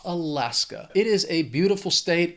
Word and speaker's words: Alaska: It has 3 syllables. The stress is on that second syllable. That final syllable just has that schwa, Alaska.